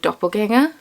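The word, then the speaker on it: Doppelgänger: today's colorway is this gorgeous blue colorway uh it's called doppelganger it's probably pronounced doppelganger it's a rumble out over the a so is doppelganger technically but um you know they're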